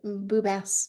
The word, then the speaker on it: Boubess: Did I say it right? Boubess. Perfect. It's French.